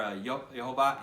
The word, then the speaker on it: Yehovah: that his name is Jehovah in English or Y Jehovah in Hebrew and Jehovah in English if you want to pronounce it that way with the J so